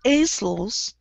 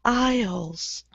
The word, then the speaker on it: aisle: But we don't say islands, we say islands. And this word is like that. Okay. We don't say aisles, we say isles.